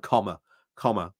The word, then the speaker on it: Kamala: Harris um sorry I I know I've basically been told I'm pronouncing a name wrong it's like comma comma comma comma comma um so